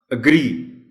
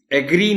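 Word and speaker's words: agree: अग्री, एग्री नहीं कहना इसको. जिनको नहीं मालूम वो ज़ाहिर है शुरू इसी से करते हैं, एग्री कह देते हैं. अग्री. और दूसरी ख़ास बात इस वर्ड के प्रोनाउंसिएशन में है कि इसमें स्ट्रेस आर पर है, ए पर नहीं है. अग्री नहीं है, अग्री.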